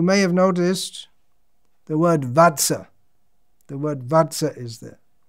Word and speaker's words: vatsa: have noticed the word vatsa the word vatsa is there which means my my dear darling who i'm most affectionate to how many children do you have koto bachcha is bengali pronunciation of vatsa so the idea child